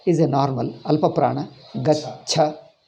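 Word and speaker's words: गच्छति: Gacha. Pronounce this. Gacha. You have to practice it. Gacha. Gacha. Gachati. Gachati. First cha. First cha is alpa prana. Second cha is mahaprana. Gacha.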